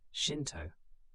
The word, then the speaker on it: Shinto: Buddhism did not replace the indigenous Shinto, pronounced Shinto, beliefs.